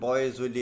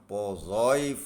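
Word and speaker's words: Poiseuille: എഴുതുന്നത് പോയിസ്വെല്ലി, പലരും പോയിസ്വെല്ലി എന്നാണ് ഇത് വായിക്കുന്നത്. അതിൻ്റെ ശരിയായ ഉച്ചാരണം പോസോയി ഫോർമുല എന്നാണ്.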